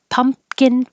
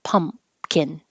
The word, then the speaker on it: pumpkin: sweet potatoes sweet potatoes pumpkin pie you don't have to say the p uh the middle P pump you just close your lips for the M pumpkin pumpkin pie parade you